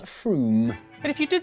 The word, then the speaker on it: Frome: Wrong, it's not Frome. Frome, it should be blitheringly obvious, is pronounced Froome. But if you did say Frome, don't worry, you're in good company.